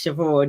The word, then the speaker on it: Siobhan: "How do I pronounce this word that looks like sea barn?" And I was like, "Oh, that's Siobhan."